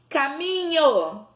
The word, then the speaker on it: caminho: Caminho. Quem é a nossa sílaba tônica?